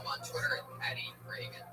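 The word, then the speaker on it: Regan: Not like Ronald Reagan. It's And now it's like there's no A in there. Follow him on Twitter at Patty Reagan.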